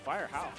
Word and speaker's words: Firehao: Is that how you pronounce yeah, that? Yeah, Firehao.